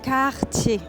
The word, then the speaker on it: Cartier: I think this one pronunciation wise is one of the hardest because of the R, you know. So it's Cartier.